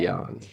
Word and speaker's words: Jan: Yep, hosted by me and Jan, our marketing manager. Jan, it's spelled Jan. He's from Peru. So like yawning, like I'm yawning.